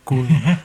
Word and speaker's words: Koen: Seems like I even butchered what seemed to be like the most Dutchish name I could find, Cohen instead of Koen, which is how everybody would say it here, but it's okay.